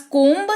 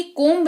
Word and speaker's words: comb: उदाहरण के तौर पर सबसे पहला शब्द है हमारे पास कोम्ब, COMB, कोम्ब। जी हाँ, गलत पढ़ा आपने भी और मैंने भी, कोम्ब नहीं, इसको कॉम पढ़ते हैं।